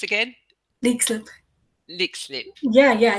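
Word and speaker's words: Leixlip: That's How is it pronounced again? Lexlip.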